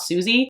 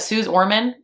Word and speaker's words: Suze Orman: I think it's Suze, not Susie, but Suze Orman.